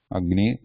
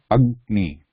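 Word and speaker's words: अग्नि: Adney yeah hugged knee agni also same hug hug you go is half then knee Agni Agni so Agni is fire okay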